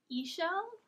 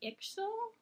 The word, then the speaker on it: Ixchel: i'm saying it right i think it's eshell it might be ixel i found a bunch of different but i did find one person who like specialized in mayan history who pronounced it esho so i'ma go with that